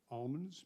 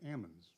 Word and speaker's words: almonds: some species of nut ammons that's why it's supposed to be people call it almonds but the correct pronunciation is actually ammons and some were poisonous